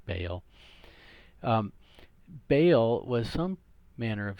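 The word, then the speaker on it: Baal: okay ba apostrophe al some pronounce it by all that sounds weird in English so I just say bail bail was some manner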